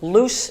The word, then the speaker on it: loose: do here's my take loose rhymes with goose if that's what you've written I want your head to say loose goose I didn't want lucious I wanted lose and